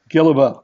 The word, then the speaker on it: Guillebeau: but I have a challenge myself uh I pronounce it Gill about but I never correct anyone so we'll go